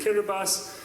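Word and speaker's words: Kiribati: So, for example, I visited Kirbas, which um is for those of you who don't know how it's spelled, it looks like Kiraabati, but it's spelled Kirabas.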